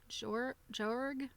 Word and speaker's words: Joerg: So the person that made this for the book is called Faye Jorg. Her last name is spelled Joerg.